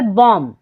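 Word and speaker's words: bomb: है silent for example बॉम यहां पर आप अगर ध्यान दें तो बी जो है वो एम के बाद आया है तो यहां पर बी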